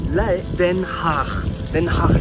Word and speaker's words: Den Haag: Den Haag Central, comme ça que ça se prononce je crois.